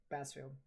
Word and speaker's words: Bassfield: Yeah, because that's actually how it's pronounced. Bassfield.